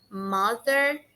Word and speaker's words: mother: A gente não pronuncia mo, a gente pronuncia ma, como se tivesse uma letra A ali no lugar do O.